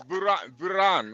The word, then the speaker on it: Varun: Isn't that how you say it? No. VARU and Varun. It's Varun, right?